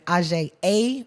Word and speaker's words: Aujye: Aujye, Aujye. Remember that? If you say Aujye and it doesn't feel sexy, you're saying it wrong.